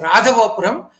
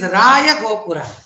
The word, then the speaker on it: Raya Gopura: name as Raya Gopura, because many people mispronounce it as Radha Gopuram, but it is Raya Gopura, because the Vijayanagara rulers